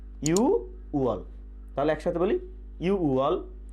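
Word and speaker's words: 유월: আমাদেরকে মনে রাখতে হবে জুন মাস বলার সময় নিচের যে ভাতচিম ছিল এই ভাতচিমটি থাকবে না, তাহলে উচ্চারণ হবে কি ইউ ওয়াল।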